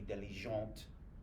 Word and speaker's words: diligente: might say je suis diligente. All right, because you're feminine. So you're going to pronounce the T because you're going to add an E at the end.